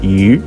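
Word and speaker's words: 鱼: good wishes for others fish in chinese pronunciation is you that sounds the same as the word you that means more or rich in chinese means may you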